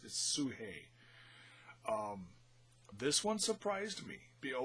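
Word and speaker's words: Sugehit: up against princess sue if I didn't hear it on the show I would have mispronounced it so I'm glad I watched it closely sue hey it looks like such hit but it's sue hey this one surprised me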